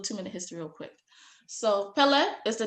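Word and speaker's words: Kpelle: So Pele is the name of my tribe. I know y'all see a K there, K-P-E-L-L-E. I know y'all see a K there, but the K is silent.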